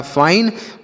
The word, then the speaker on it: fine: आगे लिखा FINE, तो यफ से पढ़ते हैं आपका फा। आई का उच्चारण बच्चों आई होगा, एन से होगा नौ, और लास्ट में ई रहता है तो उसे नहीं पढ़ते हैं। लिखा फाइन, फाइन का मतलब होता है ठीक है।